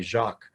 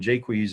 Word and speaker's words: Jaques: name was joseph jaques a lot of people say his name and say jacques but it doesn't have a c and j queez is a is an english name i think there's even